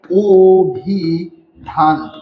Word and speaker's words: অভিধান: সেটা হচ্ছে কি অভিধান অভিধান শব্দ দেখেন শব্দের আদি অ রয়েছে এবং তারপরে কি রয়েছে রস দীর্ঘ দীর্ঘ রফালা জফলা রস রয়েছে তার কারণে সেই আদ এর উচ্চারণটা কিসের মত হবে ও এর মত হবে তো দেখেন এখানে ও এর মত হলে কি হচ্ছে এখানে ওভিধান ওভিধান আমাদের এইযে কেন হচ্ছে